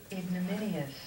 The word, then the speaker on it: ignominious: day um I think a lot of people say ignominious and I just wanted to pronounce it for you ignominious or I wanted him